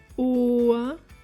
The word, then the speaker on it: Ohr: As you can see with the pronunciation of O and U, the correct pronunciation of the vowels is vital, since it significantly changes the word's meaning if you pronounce one incorrectly.